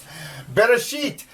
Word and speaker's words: בראשית: Bereshit, the first word. Remember, we're reading from right to left. You can sound it out. Beit, ba, resh, r, aleph. They actually say it's a silent letter, and you don't...